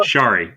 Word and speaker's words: Shari: Shari like Starry. That's why she chose that handle.